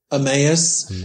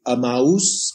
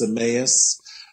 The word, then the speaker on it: Emmaus: did your more recent book how do you pronounce it by the way it's the road to emmaus yeah it's kind of a funny word isn't it or in spanish it would be a mousse but in english it's emmaus um which is